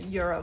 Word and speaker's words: gyro: Almost like the euro sandwiches or the gyro or the giro, whatever you guys call it. Euro is actually how it's pronounced.